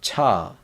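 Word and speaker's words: ㅊ: So it's a j sound. So ja with a sound. So ja, and this one is cha, ja, cha, ja, cha.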